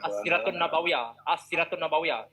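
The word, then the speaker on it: السيرة النبوية: Bacanya as-siratun nabawiyah. Oke, jadi katanya bacaannya as-siratun nabawiyah. Kalau sirah nabawiyah itu bahasa Indonesia atau bahasa Melayu.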